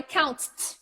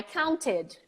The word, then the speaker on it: counted: to change that exactly so I can't say I count that's not gonna work so I have to include a vowel I counted I counted verbs like